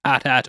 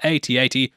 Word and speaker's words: AT-AT: Also, I know there's some back and forth on the pronunciation of whether it's AT-AT or AT-AT, with Lucas saying it's in fact pronounced AT-AT.